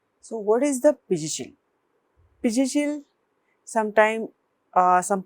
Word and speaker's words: Pizhichil: Pizhichil, sometimes some pronounced as a Pidichil, some North Indian says as Pinjinchil, as the spelling says Pizhi, and in Ayurveda